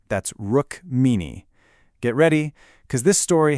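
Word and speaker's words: Rukmini: K R I S H N A and a beautiful courageous princess named Rrook Meanie. That's Rook Meanie.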